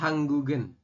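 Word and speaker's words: 한국은: Jadi dibacanya nanti berubah ya. Giok yang bawah ini nanti naik ke sini. Ya. Jadi dibacanya adalah hanggugen. Hanggugen seperti itu atau hanggugi.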